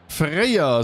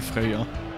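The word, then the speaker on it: Freya: es eigentlich freier oder spricht man es eher freier ich glaube man spricht eher freier also zumindest habe ich mal so eine so eine Serie gesehen mit so so Nord wo auch jemand freer hieß und so geschrieben wurde und die haben es auch so ausgesprochen so um die drei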